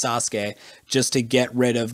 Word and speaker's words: Sasuke: then another unvoiced consonant usually they drop the vowel sound so that there's only one vocal break so a lot of